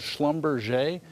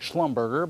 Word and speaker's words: Schlumberger: Baker Hughes, Diamond Offshore, and a company called Schlumberger, which looks like Schlumberger, but it's Schlumberger.